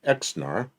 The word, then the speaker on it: XNR: And that car was the XNR. If you pronounce that, it's Xnar.